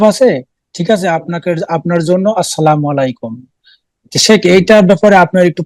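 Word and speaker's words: السلام عليكم: কিন্তু সেটাকে যদি বিকৃত করে দেয়, হ্যাঁ, যেমন আসসালামু আলাইকুম, সালাম আলাইকুম, তাহলে সালাম আলাইকুম মানে মরণ, তাহলে হারাম, গুনার কাজ।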